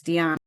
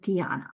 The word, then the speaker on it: Diana: Oh, it's Diana. It's Diana. It's the original because it comes from the Roman goddess. So they pronounce it Diana.